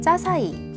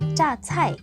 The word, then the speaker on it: 자차이: 알린이 떠오르기도 합니다 들은 짜사이 혹은 짜샤이 부르기도 하는데요 정확한 명칭은 중국어로 짜차이 있니다 올바른 외래어 표기법에 따르면 짜 차이는 자 차이로 쓰는게 맞습니다 물론 읽는 건 짜 차이라고 해도 무방한데요 우리 보통 자장면을 짜장면이라고 읽잖아요 중국에서 짜차이 주로 서민들이